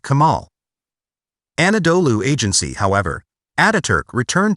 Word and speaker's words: Kemal: As the circumflex accent on the final a softens the l, the pronunciation closely approximates that of the Arabic Kemal.